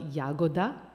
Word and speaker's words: Jagoda: I was like oh the author is Flory jagoda which is spelled yagoda which in Croatian means